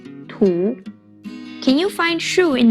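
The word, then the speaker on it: 土: the first one means earth or dirt it's pronounced tu can you find shu in this character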